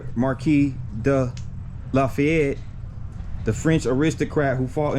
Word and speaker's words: LaFayette: the exact same way it's just that here in Georgia it's pronounced Lafayette as opposed to Lafayette as it is pronounced in Louisiana so I found that